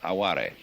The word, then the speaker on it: aware: in Japanese is called aware it's spell like our word aware only pronounced aware and this like you